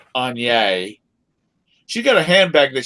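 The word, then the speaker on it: Aigner: She's got we call them Agner bags, but I think they're pronounced Anye.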